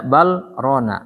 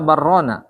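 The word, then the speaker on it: بل ران: Bal rona apa barrona? Bal rona. Diidharkan dia di situ. Harus sama idgham. Bal lam. Ketemu ro, harus sama idgham mutaqaribain. Tapi tidak boleh baca idgham di situ.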